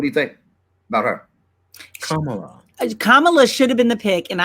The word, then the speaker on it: Kamala: Wait, is doesn't it rhyme with Pamela? No. No? Because her mama's name is Shamala. So they named her Kamala. It's Kamala.